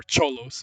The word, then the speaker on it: Sholos: This is you pronounce it Sholos, you spell it like this, or Cholos if you really want to spell it. But Juan. I'm going to go ahead and say that the intended pronunciation is with an sh sound.